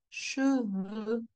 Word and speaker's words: cheveux: Otherwise, what I'm going to understand is cheveux. Chevaux. Donc, un cheval, a horse. Des chevaux, plural. O. Des cheveux. E. O. E. O. E. You see my lips? They are quite extended when I pronounce O.